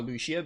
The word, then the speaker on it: Lucia: naked Lucia Lucia Lucia I call her Lucia because that's how the game pronounces it d I don't